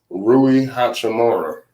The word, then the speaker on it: Rui Hachimura: Rui Hachimura. That's how you say his name.